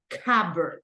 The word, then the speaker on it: cupboard: rightt right like this you can try to say it like cber something like this Cabo okay Cabo that is the pronunciation A Cabo it's similar to a closet but Cabo is the pronunciation in British English you can either say